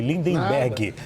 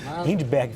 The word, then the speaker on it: Lindbergh: Peço perdão pela pronúncia errada, viu, deputado? Falei Lindenberg. Lindberg Farias.